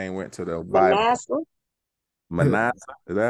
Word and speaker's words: Manasseh: Manasseh. Is that how you say it? Manasseh.